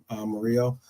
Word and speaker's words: Murillo: But apparently, we are looking at Forest's Murillo, if you want to call it that. But I think it might be said, because usually when it's double L, you pronounce it like a Y, Murillo.